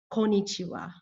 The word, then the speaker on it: Konnichiwa: As you can see, it only has 4, and it is missing the first N. Konnichiwa.